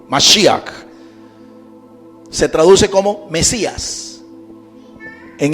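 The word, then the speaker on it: משיח: que tiene las láminas, la palabra mesías se dice en hebreo masia. Mas y se escribe con las letras men, shin, yot y het. Cuatro letras. Men, shin, yot y. Así se escribe, masíak.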